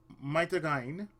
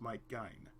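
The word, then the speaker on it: Might Gaine: Big Battle, Brave Express Maitagain, that is how it's pronounced, Mike Gain, King of Braves Gal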